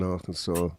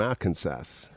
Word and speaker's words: Arkansas: saw Arkansas, but it it's spelled sass. Why? Where does the saw come from?